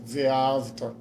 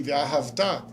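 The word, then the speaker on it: ואהבת: Para que ninguém ouvisse Ve'avta, você amou. E sim Ve'ahavta.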